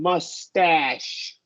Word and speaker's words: mustache: Because it's the A and then SH. The only exception is going to be if there's a W before the A. Then we're going to go with a lax sound. But more often, there might be some other exam. More often than not, it's going to be a wide A sound.